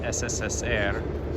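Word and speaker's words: СССР: It actually is pronounced SSSR, which is Russian for Soviet Union.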